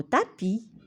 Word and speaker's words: tapis: muettes comme le mot tapis j'aperçois souris bras la lettre s est écrite mais ne se prononce pas d'accord c'est une lettre